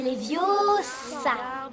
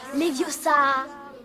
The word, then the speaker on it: Leviosa: Et puis d'ailleurs, tu ne sais même pas le prononcer, c'est les vieux et pas les viosas.